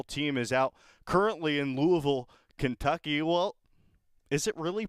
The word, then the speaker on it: Louisville: Oregon baseball, the postseason run starts tomorrow at 4 o'clock against Michigan, and the whole team is out currently in Louisville, Kentucky. Well, is it really pronounced Louisville?